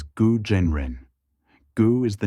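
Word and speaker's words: 蛊真人: name DST goo the Chinese name is gu Jen Ren pronounced as guo Jen Ren goo is the name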